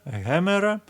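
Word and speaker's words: ἡμέρα: There are two ways how you could pronounce this initial h sound. Some people prefer deeper pronunciation, which comes from the depth of your lungs. Hemera, hemera. And other people prefer more softer pronunciation like h, hemera. In this course, I'm going to use softer pronunciation h, hemera.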